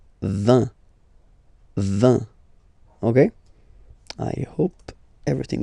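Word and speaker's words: vingt: And the last one, so this G letter is here, but you don't pronounce it. Okay, and then final T doesn't exist phonetically either, so basically you will only need to pronounce these 3 letters. So you've got V, V, and then you've got nasal, IN, 1.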